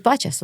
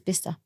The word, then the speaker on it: Bicester: I thought it was Bicester. Like Was as it the way I read it spelled like phonetically, Bicester? it's yeah, like Bicester. Manchester. Yeah. And they're like, Yeah. where's Bicester? Oh, no way. And what's it called? Bicester. Apparently it's Bicester.